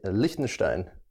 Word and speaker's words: Liechtenstein: time how do you say it I'd say listen Stein isn't that sound cool I feel like I'm